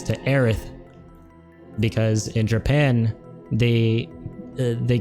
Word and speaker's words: Aerith: heiress and you need to correct it from heiress to aerith because in japan they they couldn't pronounce the the sound so everyone in the